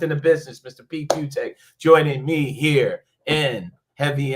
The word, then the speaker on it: Fiutak: Pete Fiutak, as it's spelled, like nobody can spell it, but Fiutak, and College Football News on the X machine.